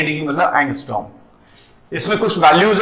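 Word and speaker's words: ångström: एक पिकोमीटर भी होगी, एक और होती है एंगस्ट्रॉम। थोड़ा इस वर्ड का प्रोनाउंसिएशन झांकना, मैंने स्पेलिंग लिख दी एंगस्ट्रॉम, ए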